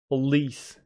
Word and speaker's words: police: you garage police police police stress is on police mhm it's like saying please please okay Part B